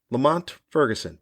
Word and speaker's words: Lamont Ferguson: It's got the 3-syllable last name, 2-syllable first name. It's a nice sounding rhythm to it. Rhythmic is what I was trying to say first. Rhythmic sound to it. Lamont Ferguson. Da-dunt, da-da-dunt. Say that? You feel the syllable? Da-dunt, da-da-dunt.